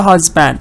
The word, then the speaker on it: husband: To a husband. In the word husband and our stress is on husband.